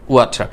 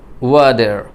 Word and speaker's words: water: তার মানে ট সাউন্ডটি আবার ডয়ে রূপান্তর হলো, আবার ওখানে রটাও পরিষ্কারভাবে আপনি বলছেন ওয়াটার।